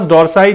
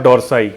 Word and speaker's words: dorsi: अब latissimus डॉर्साई दो word से बनता है, लैटिसिमस और डॉर्साई। डॉर्साई बोलिए या डॉर्सी बोलिए, जिस भी तरीके से आप इसे प्रोनाउंस करना चाहते हैं।